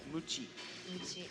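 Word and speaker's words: むち: in Japanese is mu chief mu CH AI mu Qi so now when you want to be your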